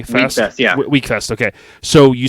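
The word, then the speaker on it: Wekfest: you said the first uh I believe you pronounced it Weck Fest w e k first yeah weak Fest okay so you said uh first week Fest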